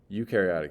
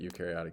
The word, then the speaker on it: eukaryotic: remember which one's which that is pronounced you and you are eukaryotic your cells are eukaryotic